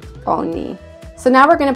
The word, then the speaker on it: oni: They is oni, and it sounds like oni.